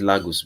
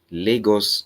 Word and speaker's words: Lagos: first one in lagus I said lagus because that's what most people in Spanish um German understands Lagos as it means Lagos they call it Lagos because of the way they pronounce some English words so we're going to